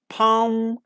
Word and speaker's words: palm: So L isn't pronounced. In come, like we say come, palm, some, half, okay, and cuff.